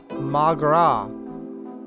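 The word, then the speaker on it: mo ghrá: Come on, Mogra. I don't know what that is. What is that? Irish for my love. One dialect would pronounce it as Magra.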